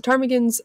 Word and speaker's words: ptarmigans: eating ptarmigans spelled p-t-a-r-m-i-g-a-n-s which is silent p this is highly p so they're very abundant in this area so tarmigans they're like kind of